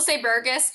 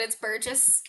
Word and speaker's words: Burgess: I'm like, I didn't ask her for the correct pronunciation. No, you got it right. A lot of people say Burgess, but it's Burgess.